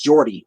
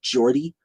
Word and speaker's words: Geordie: accent I think that I think that's how it's pronounced Jordy right g-e-o-r-d-i-e Jordy is that right um but I hope